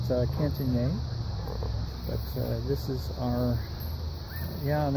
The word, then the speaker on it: Cantigny: This is the Cantigny event, or Cantigny, or Cantigny, as some folks who don't know how to pronounce it, French pronounce it Cantigny.